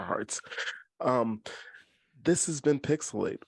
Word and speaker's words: PixelHate: um this has been pixelate where the H is silent but the hate is real I am your host